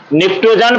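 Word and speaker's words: pnictogen: भी कहा जाता है तो नाइट्रोजन फैमिली को ट्रोजन फैमिली भी कहा जाता है प साइलेंट रहेगा ध्यान रखना है बाबू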